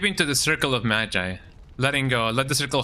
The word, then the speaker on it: Magi: Magi, that's how you pronounce it.